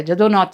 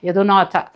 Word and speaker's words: ಜದುನಾಥ್: ದೊಡ್ಡ ಇತಿಹಾಸಕಾರರ ಒಬ್ಬರು ಇದ್ದಾರೆ ಜದುನಾಥ್ ಸರ್ಕಾರ್ ಅಂತ ಯದುನಾಥ ಯದುನಾಥನೇ ಅಲ್ಲಿ ಜದುನಾಥ ಯಾನಜ ಅಂತ ಅವರು ಉಚ್ಚಾರ ಮಾಡ್ತಾರೆ ಜದು ಯದು ಅಂತ ಆತನ